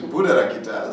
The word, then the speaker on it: Buddharakkhita: in the society of course they cannot be pronounced my name my name is Buddha Rokita so every time to cut off my name